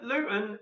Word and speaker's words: Luton: So we pronounce it Luton. We drop the T.